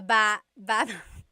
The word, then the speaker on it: baba: Emphasis is on the second syllable syllable.